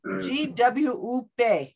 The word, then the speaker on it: GWUP: And I'm a fellow of this organization, GWUP is how they say it.